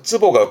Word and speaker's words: 坪: 그래서 쓰보가 평인데요. 요렇게 쓰면 평수 몇 평이냐라는 뜻이에 평수가 되는데 이때 발음은 즈보스입니다.